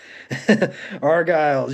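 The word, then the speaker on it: Argyles: the Hollywood argiles impressed I said that right argiles yeah I looked that one up cuz it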